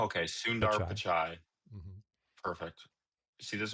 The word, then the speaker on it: Sundar Pichai: Sundar Pichai. It has a D in it. Like think Sundar Oh, Sundar okay, Sundar Pichai.